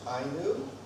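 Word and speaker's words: INEW: And is a founding member of the International Network on Explosive Weapons, INU. That's how you say it, right? When you learn it, INU.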